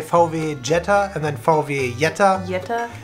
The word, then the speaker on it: Jetta: have some more Oh Jetta a new popular well know what we say actually for the Yetta Yetta Jetta I think it's just